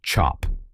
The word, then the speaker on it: cap: This is a cap, pronounced chop, a traditional copper stamp used for creating batik fabric in Indonesia.